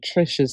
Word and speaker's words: Trish: Okay, y'all, as I was editing the video, I realized that I was saying Trish's name wrong. I was saying Tish when in fact her name is Trish.